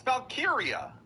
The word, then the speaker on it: Valkyria: It's Valkyria.